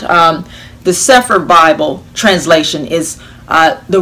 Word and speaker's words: Cepher: there now i will be reading from this sephir version those of you who are familiar with that and those who are not um the sephir bible translation is uh the restored names of